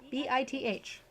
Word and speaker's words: Bith: doesn't seem so bad they are called bi b i t h Bith and they play music that rhymes with Riz because I also don't want to